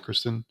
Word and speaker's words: Cristin: And Chris, how do you pronounce her first name? Is it Cristin? It's Cristin Milioti.